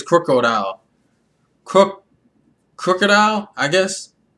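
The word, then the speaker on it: Krookodile: I think it's like Crook, like instead of like Croc. Like, yeah, it's like Croc, like you're a croc, you're a fake, you're a thief. Crocodile, I think it's Crocodile.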